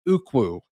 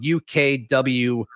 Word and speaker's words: Ukwu: Isaac Ukwu, I believe is how you pronounce it. His last name is spelled UKWU, but James Madison edge, Isaac Ukwu, they have offered him as well.